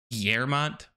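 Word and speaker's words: Guillemot: I think it's pronounced Guillermont because they're French owned.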